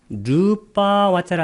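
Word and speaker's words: rūpāvacara: 르빠 와짜라 할 때 이 빠를 이렇게 길게 한 이유는 이것은 르빠 더하기 아와짜라를 결합시킨 겁니다. A자가 2개 있기 때문에 A자를 길게 발음합니다.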